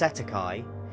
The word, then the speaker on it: cestui que: commonly referred to as CEST tuqu trust pronounced Setai and in the United